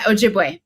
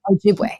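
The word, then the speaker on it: Ojibwe: of the White Earth Nation and specifically the Ojiway tribe. Is that how you pronounce it?" Yeah, Ojiway. Yep. Ojiway.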